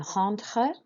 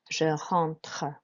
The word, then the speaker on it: rentre: So two R sounds in rentre. Just do your best with those. Rentre has got the en in it, so that's an en sound, so rent, and then tre. Je rentre.